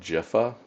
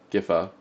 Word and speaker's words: Gifa: And I'm actually opting to reinforce Ga uh Gaja uh Gifa Gifa. GIFA. Some people on the internet would say it's pronounced Jifa, but they'd be wrong.